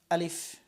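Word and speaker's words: ا: আলিফ আলিফ উচ্চারণ সময় সবসময় এই উপরের দাঁত এখানে আনতে হবে। আলিফ। একটু খেয়াল করেন। আলিফ এবং বাতাস থাকবে।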